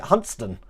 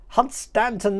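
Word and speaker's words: Hunstanton: over here or as the locals call it huntston do you believe that hunt stanton there is actually pronounced hudson just like uh let me try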